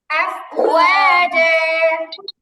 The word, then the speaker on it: أفواجا: ورأيت الناس يدخلون في دين الله আফওয়াজা, أفواجا জিম শক্ত হবে, আফওয়াজা, أفواجا আফওয়াজা, أفواجا আফওয়াজা।